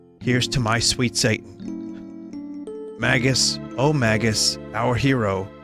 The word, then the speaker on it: Magus: omagus our hero magus and no i don't say it mages it just does not i can't in my head it was always magus since i was a kid rhymes with maggots it's it's magus i can't do mages it's so weird mages plus two